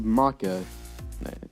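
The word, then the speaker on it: Monaca: Circus Baby versus Maka.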